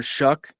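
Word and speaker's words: Shough: Uh, the quarterback's taken in front of him, Tyler Shuck. It that's how you pronounce his name.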